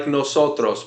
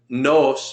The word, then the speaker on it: nos: yesterday good try no it's like noos but shorter no no no very good noos means our NOS means us it's the